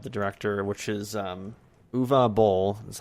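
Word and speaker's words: Uwe Boll: to wikipedia of the director which is um uva bowl that's how you pronounce it that he actually tried to do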